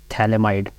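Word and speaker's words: phthalimide: इसे D structure of thalamide भी कुछ साइलेंट होता है फ इसमें आप इसके बाद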